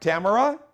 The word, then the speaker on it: Tamara: probate judge and i want to welcome uh tamara did i pronounce it right tamara that is correct it's tamara listen i